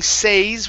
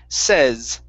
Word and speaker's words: says: S on it okay instead of saying says with a long a it's a short e says says says it says